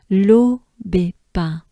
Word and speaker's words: l'Aubépin: So it's un, as in Saint-Symphorien, as in number one. Un, pain, pain. It's the same sound as bread in French, if you know this word. I know you probably know baguette, but pain is the word for bread. Pain, pain, same sound. So we go back up a little bit. We have B, pain, B, pain.